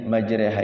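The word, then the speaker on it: مجريها: pelajaran giarib musykilatul Quran ada satu yang dibaca re itu di dalam al-qur'an namanya imala kalau selainnya Bagaimana selainnya tetap ro atau RI Selain itu selain Bismillahi majreha itu semuanya antara RO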